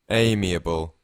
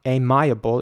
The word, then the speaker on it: amiable: me a bow amiable the interesting thing is that the eye is not pronounced like a like an I it's not a miable it's amiable and again it means